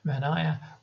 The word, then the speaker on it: Manaia: This creature again, apologies for anyone Maori for mispronouncing this, Manaia, which is a bird like creature sometimes with